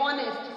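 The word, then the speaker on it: honest: एक वॉवेल है, तो जो एच से स्टार्ट हुआ है तो हम ए तो नहीं लगाएंगे क्योंकि एच हमारा साइलेंट है, हम बोल रहे हैं ऑनेस्ट, साउंड हमें एक वॉवेल की आ रही है, तो इधर इसके साथ क्या आएगा, एन आएगा।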